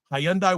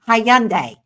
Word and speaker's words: Hyundai: She can't even pronounce Hyundai. She keeps saying Hayundai. She keeps saying hiande.